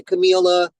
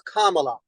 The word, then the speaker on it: Kamala: right because I say Camila Kamala it's Kamala it's like Pamela with a K all right say Kamala